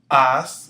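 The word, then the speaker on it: haz: Be, as, remember the H is silent, se, ve, then, pon, sal.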